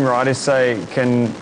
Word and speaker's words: Rhide: You'll see our ride is spelled differently to your normal ride.